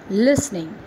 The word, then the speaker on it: listening: LISTENING, listening. Here T is silent.